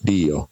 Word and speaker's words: Dio: How do you pronounce Dio? Dio.